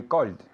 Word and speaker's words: called: Very good with a D sound. Repeat again. Yesterday I called. Again. Yesterday I called. Perfect. Did you hear his pronunciation? It was perfect, okay? It's with a D sound, okay?